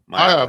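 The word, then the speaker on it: Maiava: Jaden Mayava.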